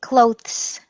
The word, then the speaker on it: clothes: time glow glow glow you were almost correct so you're saying clothes which has no vibration no voicing when you say it you want your